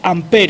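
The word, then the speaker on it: Ampère: ecuación de amper maxwell amper y se escribe ampere a mp amper y con una tilde a la izquierda pues una tilde torcida es la primera e y las que les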